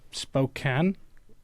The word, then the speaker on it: Spokane: Um, I've never been to Spokane.